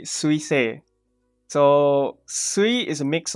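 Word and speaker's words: せ: So how do you write se? It's pronounced se, by the way. It's not say. It's se.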